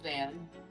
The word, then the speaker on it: Than: It's like Nathan, but without the na. Oh, okay. So it's like it's like the end of the name Jonathan.